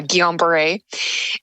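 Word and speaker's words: Guillain-Barré: very hard to pronounce so that's how it's pronounced uh Guillain-Barre and I remember at the time not knowing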